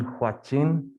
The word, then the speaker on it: Huachin: yes mr chairman uh my name is huachin pronounced like hwa watching um good to have